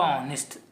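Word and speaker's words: honest: उसके साथ आपका य एन यूज़ होता है और हिंदी में जिसका उच्चारण आ ई होता है उसके लिए भी वोवेल्स आपका यूज़ होता है। तो यहां पे एन है तो आपका ऑनेस्ट एन ऑनेस्ट मैन लगेगा।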